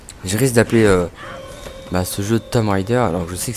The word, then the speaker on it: Tomb Raider: tout de suite, moi je prononce pas Tomb Raider. Moi j'ai toujours prononcé, c'est peut-être une erreur, mais du coup maintenant je suis habitué, depuis tout petit je fais ça, d'appeler ça Tomb Raider, alors que c'est pas du tout Tom.